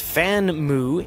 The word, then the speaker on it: Famue: palm and now the FAMU pronounced fanmu in Chinese comes this interesting eBook